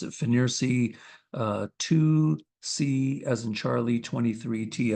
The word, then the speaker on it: FNIRSI: Okay, one more view of that screen capture from the combination O-scope multimeter signal generator, the FNIRSI, I'll pronounce it FNIRSI 2C as in Charlie, 23T as in Tango.